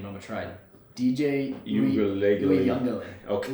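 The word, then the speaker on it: Uiagalelei: DJ Uyunglele. Okay. Uyunglele.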